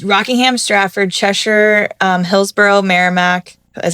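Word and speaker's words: Merrimack: different ones about Rockingham Straford Cheshure um Hillsboro Marramac is how you say Kas Bellnap yeah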